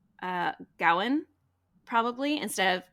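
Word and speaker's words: Gawain: this was written like it probably would have been pronounced Gowan instead of GA so anyway along the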